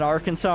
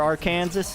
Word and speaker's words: Arkansas: nice here to be is it Arkansas or our Kansas it's Arkansas I think technically there's a law saying that you can't pronounce in Arkansas it's one of those weird little laws I think technically you aren't actually allowed to speak or aren't actually allowed to legally um say pronounce Arkansas as our Kansas if I remember right